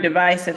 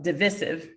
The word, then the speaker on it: divisive: vowel eye the word divisive has two pronunciations yeah with a long i sound on the second syllable and with a short i sound on the second syllable so either way the